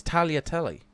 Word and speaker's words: tagliatelle: No, it's tagliatelle. So you don't even pronounce the G.